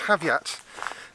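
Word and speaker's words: Havyatt: It does seem to be pronounced Haviat. Have and yat.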